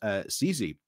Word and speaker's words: Sisi: It is not so much monarchist nostalgia, and a long-standing for Austria's own legendary Empress Sisi, that's how you say it, that drives this astonishing interest.